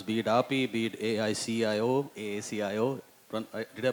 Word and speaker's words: AACIO: for her programs, be it API, be it AACIO. Did I pronounce it that right?